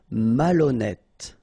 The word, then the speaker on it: malhonnête: Okay, remember, H doesn't exist, so malhonnête. Don't insist on the final E. Malhonnête. And here you get E accent circonflexe, so you pronounce it like E. Malhonnête.